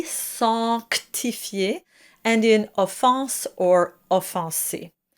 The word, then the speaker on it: sanctifier: And it's very important to pronounce that C sanctifier and in offense or offenser.